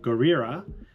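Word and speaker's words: ゴリラ: The reason being that gorilla is pronounced Gorira and whale is Kujira.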